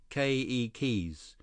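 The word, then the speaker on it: keiki: say children in Hawaiian ke keys were the accent on the first syllable okay Li ke ke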